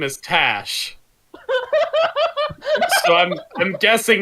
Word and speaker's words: Tash: How do you pronounce that? Tash.